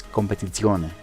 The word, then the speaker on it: Competizione: It's Competizione. It's a deeper Z.